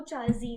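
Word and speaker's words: 茶人: यहाँ पर spelling mistake है बट वो चाजीन है।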